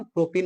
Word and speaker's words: प्रोपीन: ये मत समझाना कि सर उच्चारण गलती लिखा हुआ है। उच्चारण सही लिखा हुआ है। ठीक है ना? प्रोपीन उच्चारण सही बोला जाता है। ऐसे ही बोलेंगे।